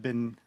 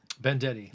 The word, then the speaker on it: Bendetti: Bendetti. Bendetti. Bendetti. Okay. Like vendetta. Vendetta. But Bendetti. Bendetti.